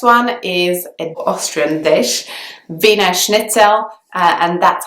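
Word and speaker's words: Wiener Schnitzel: is an Austrian dish Vina schnitzel and that's how it's pronounced in British English I believe the pronunciation is very close to how it would be pronounced in German so there aren't a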